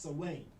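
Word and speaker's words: Samhain: celtic festival of salwain it's spelled s-a-m-h-a-i-n but it's pronounced sawing when people would like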